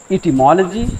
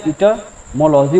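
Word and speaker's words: etymology: तो 5 प्रकार होते हैं, जैसे कि है ऑर्थोग्राफी, वर्ड विचार, इटिमोलॉजी, इसे बहुत लोग इटाइमोलॉजी या इटमोलॉजी बोलते हैं, वो आप गलत है। प्रोनाउंसिएशन इसका क्या होगा, इटिमोलॉजी।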